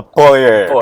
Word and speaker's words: Poer: Instead of saying, they want to say it power, but they pronounce it in the sense it's called Poer. Yeah, it's a Poer truck.